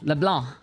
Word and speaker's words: LeBlanc: LeBlanc.